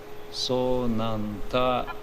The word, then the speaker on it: so 'nanty: that is that sign it is called avagraha. So that A is not pronounced. Or otherwise that breaks chandas. Because uh that pada supposed to be how many? Eight maybe. so 'nanty ity giyase If you